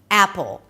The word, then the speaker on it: Apple: We begin with the A as in cat. Drop your jaw, pull your lips to the sides, and push your tongue forward so it doesn't sound like apple, but a.